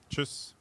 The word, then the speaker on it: Tschüss: Tschüss. Choose. Tschüss.